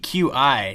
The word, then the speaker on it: Qi: And that's Qi, Q-I, not Qi or Quai. It's pronounced Qi.